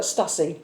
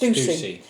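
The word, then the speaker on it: Stüssy: Now I'm going to spell it out because it looks like Stussy. Okay. It's Stussy, but I've Googled it and it is pronounced Stussy.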